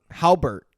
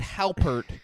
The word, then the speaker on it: Halpert: just Sean hambert Jim Jim Harbert Jim Halpert Halbert Christopher has some weirdest definitely